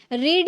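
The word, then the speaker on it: read: अब यहां पे इसको प्रोनाउंस कर रहे हैं। यहां पर रेड पढ़ रहा है। क्यों? यही रूल है जब आप फर्स्ट फॉर्म में आप रीड प्रोनाउंस कर सकते हैं। बट सेकंड और थर्ड में आपको रेड प्रोनाउंस करना होगा।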